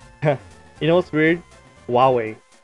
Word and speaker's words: Huawei: get out of here you know what's weird huawei it's not it's spelled like cool why it's pronounced like huawei so weird or at least that's how marcus